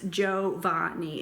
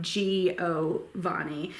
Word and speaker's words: Giovanni: pronounced in 3 syllables, Giovanni. It is not Giovanni. In Italian, when an I comes after a G, it's there to tell you how to pronounce the G.